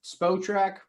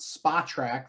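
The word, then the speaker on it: Spotrac: just want to point out to everybody it's pronounced spo track okay i i don't know like nobody seems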